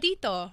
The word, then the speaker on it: Tito: Tito.